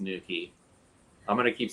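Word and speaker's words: nuchae: guy in here that green depicts the ligamentum nuka as i've been saying it but i just learned that it's pronounced nukey i'm gonna keep saying nuka i'm sure for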